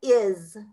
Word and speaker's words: is: is in the closet is so it is a s but it sounds like a z does that make sense so it's is is i i s sounds like i z so i s is